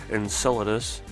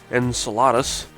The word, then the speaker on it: Enceladus: just make mention that I prefer the the pronunciation Enceladus because I've heard people also say Enceladus which to me sounds like enchilada and I don't know